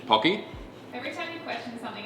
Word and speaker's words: Pocky: It's pocky, not porky. Pocky.